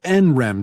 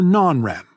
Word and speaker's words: NREM: between rem sleep and n-rem sleep which you can pronounce nrem or non-rem rem comes from the